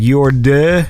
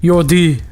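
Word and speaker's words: Jordi: Do you actually say like Yordi or is it like Yorde? Yordi. Yordi. Like it is a strong D sound. Yeah, it's a more of like a strong O.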